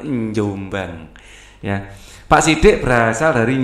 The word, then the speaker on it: Jombang: dari jombang nah itu kalau orang jombang bacanya bukan jombang ya tapi njombang ya pak sidik berasal